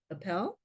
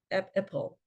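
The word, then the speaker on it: Epel: Professor um Alissa um appelo Apple I believe she pronounces it um I think she's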